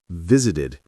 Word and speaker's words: visited: And some actually add a whole syllable like visited. V zid. Three beats.